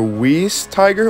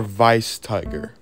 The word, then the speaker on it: Weiss: looked it up and it translated itself to German and pronounced itself like vice vice so it apparently